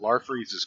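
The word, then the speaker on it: Larfleeze: Larfreeze's Christmas special.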